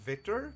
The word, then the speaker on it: Wictor: keep calling him Victor it is pronounced Victor but it's spelled like Victor I hope your condition